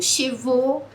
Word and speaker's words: chevaux: se você visse as letras A, U juntas, você ia querer pronunciar como AU, beleza. Só que não no francês, meus queridos. No francês é O. Tipo, chevaux, ou O mesmo, água.